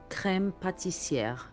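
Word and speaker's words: crème pâtissière: واللي هي كلمة فرنسية وبننطقها كريم باتيسيير.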